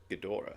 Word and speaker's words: Ghidorah: Z Fighters could stop King gadora is how you pronounce it King Gora Godzilla is